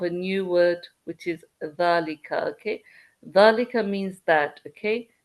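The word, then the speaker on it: ذلك: Okay, so dhalika, it's, let me fix this. Okay, it starts with this letter here, which is the. Okay, it's your dhal. Okay, okay, dhal.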